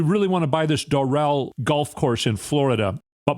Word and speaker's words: Doral: They get the loan, and then Ivanka shows it to Trump, and he's like, "Well, we're buying Daryl? Who's Daryl?" "No, it's Doral, sir.